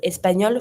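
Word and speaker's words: espagnol: Same pronunciation because I'm going to always going to pronounce my L um when it's finishing with a L. But I'm not going to pronounce it my E when it's feminine. So I'm gonna say espanol for both.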